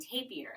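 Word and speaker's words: tapir: They're saying tapier. And so I keep meaning to tell you guys, tapier. That's how they're saying it. That's Tapier. awesome. So that's how the Kratt brothers pronounce it at the very least.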